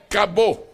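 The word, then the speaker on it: כבוד: uma palavra que nós vamos aportuguesar a pronúncia. Vamos dizer assim, bem facilmente. A palavra glória é cabô.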